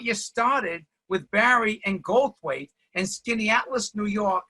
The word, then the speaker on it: Goldthwait: BOBCAT GOLDTHWAIT, or Bobby Goldthwait, as all the Boston guys pronounce it.